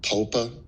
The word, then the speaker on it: PPOA: a thing that the POPA that is that the correct pronunciation? Yes, popa.